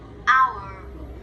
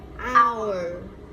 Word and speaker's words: hour: Hour. Hour. Hour. Hour. Ở đây là mình chỉ có phát âm Vô thanh, cho nên là mình sẽ không có rung dây thanh quản ở cổ nhá.